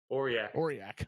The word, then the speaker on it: Aurillac: Aurillac.